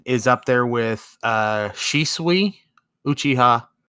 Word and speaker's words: Shisui: up there with uh shisui uchiha or how do you say his name is it she sweet yeah yeah uchiha and